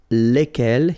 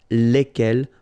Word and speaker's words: lesquelles: And the good news is that phonetically it's lesquelles here for the masculine form and then lesquelles for the feminine form, all right?